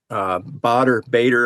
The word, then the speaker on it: Baader: As far as filters, if you want to image, I highly recommend Bader. I'm not sure exactly how you pronounce it. It's BAADER filters.